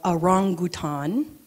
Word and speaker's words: orangutan: They're called arangutan. That is the proper pronunciation.